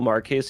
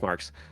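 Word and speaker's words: Marques: George Clinton, Robert Woo, Marquez Houston, uh I think it's pronounced Marks. Um Jay Austin Richards, Jay August Richards.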